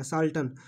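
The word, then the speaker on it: charlatan: तो देखिए ये साल्टन जो है ना, इसका देखिए इसका प्रोनाउंसिएशन जो है, इसमें आर साइलेंट है और सी एच को सौ पड़ा जाएगा, साल्टन झूठा कपटी या ढोंगी, ठीक है।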